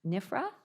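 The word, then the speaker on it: NFPRHA: And then finally, we have Claire Coleman, who is the CEO of the National Family Planning and Reproductive Health Association, pronounced NIFRA.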